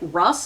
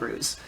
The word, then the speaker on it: Ruse: I've heard some people pronounce it Russ, and I'm like, that's not how it's spelled. It's spelled Ruse.